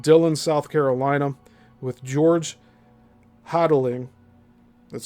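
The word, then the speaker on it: Hotelling: This plane had left Dylan, South Carolina with George Hodddling, that's spelled H O T E L L I N G, a pilot of considerable experience.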